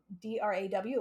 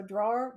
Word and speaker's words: drawer: they spell it like d-r-a-w like draw um because the pronunciation is similar so drawer versus draw um and so people don't hear the ER and so they'll spell